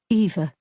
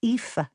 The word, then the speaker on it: Aoife: Eva, you murmured into my ear, and I didn't have the heart to set you straight. Aoife. The name is pronounced Aoife.